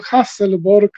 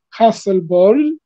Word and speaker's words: Hasselborg: czyli curlingu szwedzkiej, Anny, ludzie mówią Hasselborg, ale powinno się wymawiać bardziej Hasselborg chyba, z tym J na końcu.